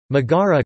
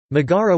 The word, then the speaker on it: Megara: Megara Greek Megara pronounced Mira is a historic town